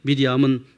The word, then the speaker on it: 미리암: 있습니다이 마리아의 뜻에 근데 신약에서 마리아라고 부르는 이름은 원래 히브리 발음으로 미디엄입니다 근데 헬라식 이름은 마리아이고 영어식 이름은 메리입니다 그리고 중국어와 한국식 발음이 마리아입니다 히브리인들에게 미리암은 모세의 누이를 생각했습니다 그는